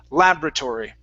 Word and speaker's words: laboratory: I say laboratory. So we put the stress at the very beginning of the word.